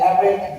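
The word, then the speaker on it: Erik: And I want to introduce you to my good friend Eric. You said Eric with a K, like Artz with a Z.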